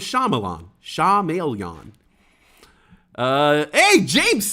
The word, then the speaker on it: Shyamalan: lebron james here never it's pronounced uh sha mel yan shamelyan really i always thought it was shyamalan shah maelyan uh hey